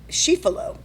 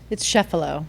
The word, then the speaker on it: Sheffalo: But Sheffalo. It's Sheffalo. Sheffalo. Yeah. Because you would pronounce the 2 F's.